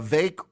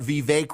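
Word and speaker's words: Vivek: V it's V uh V rhymes with cake V the santis people are helpfully pointed out vve rhymes with fake uh V ramaswami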